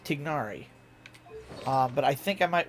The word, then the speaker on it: Tignari: It's Tignari.